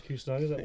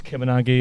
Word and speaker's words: Kusanagi: People didn't know what to say, or people called us Kimanagi and things like that. From things like that, random stuff. Kusanagi, Angangi, random stuff. But over time, people got to pronounce it right. I think as we got our music out there and we played around the country and stuff, people were oh yeah, it's Kusanagi. Kusanagi, it kind of works.